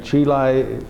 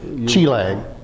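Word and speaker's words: Chi Lang: Did you say Chile? Chilang. Oh, Chile. Chilang. L-A. Chilang is the way it's pronounced.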